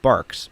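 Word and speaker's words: Barq's: cream above nw is what i call barks b-a-r-q-u-s that's how you spell it barks has more of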